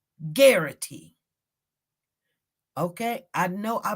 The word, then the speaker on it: Garrity: it's called when officers it's g-a-a-r-i-t-y it rhymes with Clarity it's called guarantee that's